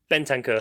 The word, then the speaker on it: Bentancur: And like you say, these 2 players that have come in, because you're right to bring up pronounce it for me, Chuck. Bentancur.